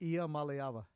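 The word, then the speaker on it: Iamaleava: Malyava.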